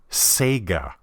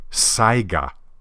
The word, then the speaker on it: Saiga: on Uncle miky's design I've actually heard this pronounced as Sega I'm not sure how you would get that from the spelling but as I said earlier people saw Sako and pronounced it as Seiko at any rate it's pronounced Saiga Saiga Italy deservedly gets praised